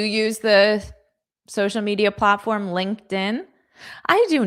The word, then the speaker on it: LinkedIn: And there's a lot of incorrect pronunciation because of the connected sounds. So, notice my pronunciation. I'll say it fast at first. We connected on LinkedIn last Tuesday.